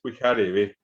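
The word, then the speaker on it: pyhareve: El siguiente momento ya es la mañana, que es pijarebe. Pijarebe. Siempre cuando ustedes no ven un acento pintado, quiere decir que el acento está acá, en la última vocal.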